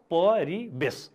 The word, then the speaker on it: परिवेश: परिवेश शब्दको उच्चारण कसरी गरिन्छ हेर्नुहोस् त, परिवेश। यहाँ व छ, वेशमा व छ, तर हाम्रो उच्चारणमा त व हुन्न, ब हुन्छ। त्यसकारणले वेश, परिवेश पनि भन्दैनौँ हामी, परिवेश भन्छौँ। त्यसकारणले यसको उच्चारण नै हो परिवेश।